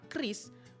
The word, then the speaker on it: QRIS: Sehingga pelaan Kris menjadi Kris adalah harus dinormalisasi.